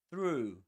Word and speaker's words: through: So through through and one key to nail this sound is to do this your lips you need to push them forward like this.